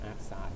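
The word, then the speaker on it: arcsin: ที่ Sin กำลัง -1 เรา จะ อ่าน ว่า AR Sin นะ ครับ Cos กำล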